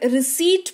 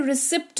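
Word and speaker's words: receipt: है आगे बढ़ते हैं फिर रिसी पढ़ते हैं रिसिप्ट नहीं पढ़ते अच्छे-अच्छे लोगों को मैंने रिसिप्ट पढ़ते हुए सुना है which is not true as पर ब the rule of the silent letters you should read this रिसी नॉट रिसीप्ट ठीक है तो रिसी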